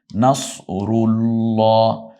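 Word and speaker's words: نصر الله: আপনি এভাবেই শেখান তো যা চার আলিফ টান নাসরুল্লাহ রুল্লাহ রকে রসুকার দিয়ে রু নকে আকার দিয়ে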